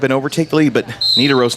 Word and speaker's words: Nidaros: It's going to give a 5-point increase for Nidaros. I keep wanting to pronounce it with a long I instead of a short I.